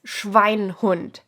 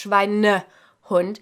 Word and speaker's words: Schweinehund: Now, as it says on the thumbnail, I want you to take extra care not to pronounce this Schweinhund, because that doesn't exist. It's Schweinehund, just because of how we smush together compound words.